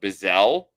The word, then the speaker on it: Bizzle: is bizzle um i think it's pronounced bezel but when it's spelt bizzle uh come on how